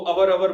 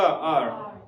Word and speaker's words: our: कुछ लोग इसे रॉन्ग प्रोनाउंसिएशन को यूज करते हैं, वो अवर बोलते रहते हैं, लेकिन सही प्रोनाउंसिएशन क्या है इसका? आर।